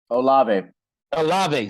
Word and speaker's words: Olave: feel like i'm gonna butcher his name chris olivei olave see yeah see i learned that from watching